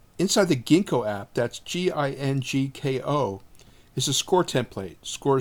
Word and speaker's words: Ginkgo: Second, inside the Ginkgo app, that's Gingko, is a score template. Score is spelled S-C-O-R-R-E, and that template is really very good.